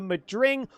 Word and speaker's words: Madring: The Madring or the Mad Ring depending on how you want to pronounce it.